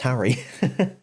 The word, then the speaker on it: Henry: In Anglo French, it was Harry. Yeah. So that's why it's literally meant to be pronounced Harry.